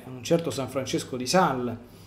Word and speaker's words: Sales: san francesco di sal comunemente noto con come come san francesco di sales per il nostro vizio un po italiano di italianizzare i termini francesi però la pronuncia corretta a quanto ne so dovrebbe essere san francesco di sal quindi non pronunciando le ultime lettere comunque abbiamo capito di